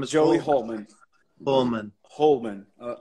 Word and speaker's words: Holman: Joey and Joy's last name is Joey hman Holman Holman all right all right all right so